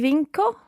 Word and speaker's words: vinco: cheri so i win applying that same rule not j jatuga but how would you say i win isla would it be vinco vinco vinco and if